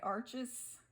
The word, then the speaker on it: Arches: I say my arches. It's my favorite. It's also pronounced arche. I think that's what they said the official pronunciation is. If you're French, it's arche paper. But I'm not French, so I obviously don't know.